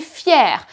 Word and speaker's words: fière: Il est fier, elle est fière. Notice the pronunciation is exactly the same, but it is written differently. In the feminine, you add an extra I and there is an accent.